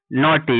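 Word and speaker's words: naughty: यहां पे भी जी एच साइलेंट है।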